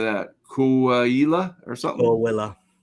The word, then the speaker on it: Coahuila: And however you say that, Coahuila or something. Coahuila.